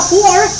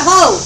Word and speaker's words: whore: If you're going to say it right, a whore is not a hoe.